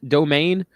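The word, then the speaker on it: Doughman: place up here uh it's called domain domain um it's spelt like pizza dough and then man at the end okay let's talk about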